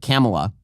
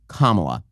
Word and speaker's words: Kamala: allowed to pronounce it Camala not all allowed to pronounce it Kamala you're not allowed to pronounce it comml it's kamla and if you don't you hate black people or something so apparently